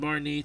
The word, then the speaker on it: Marnie: objectives as well we have barmy as they pronounce her name Marnie Marnie Marnie is one of your rivals who